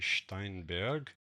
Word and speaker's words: Steinberg: The German pronunciation will be Steinberg.